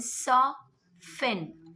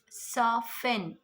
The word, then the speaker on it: soften: Then soften, not soften. Soften.